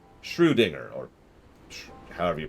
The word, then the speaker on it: Schrödinger: Schrödinger, or however you pronounce it. Get it? Anyways, I'd best be getting back that way myself. See you there, Lore. It's pronounced Schrödinger, by the way.